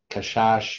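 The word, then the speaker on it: קשש: um is uh well let's put kashash which doesn't really mean anything it's just how it's pronounced but it means to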